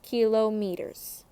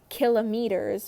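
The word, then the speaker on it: kilometers: meters kilo meters and a lot of people when they talk they don't pronounce that like kilo meters kilo liters they'll say kiloliters kilometres which I honestly I think I do that too especially when I'm like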